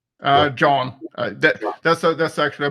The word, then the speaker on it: Jon: Um, is do I pronounce your name John or Yan? Uh, John.